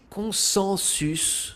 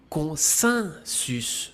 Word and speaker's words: consensus: Ce mot que j'entends souvent prononcer consensus se prononce en réalité consensus. En effet, c'est la même règle que pour les mots examen et agenda. Le n se prononce comme un i, consensus.